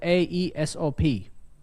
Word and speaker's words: Aesop: It's spelled Aesop. Write it down. Aesop as in Aesop's Fables.